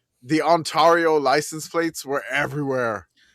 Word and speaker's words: Ontario: The Yeah, the Ontario license plates were everywhere. Run that one back. How did you pronounce that? Antario.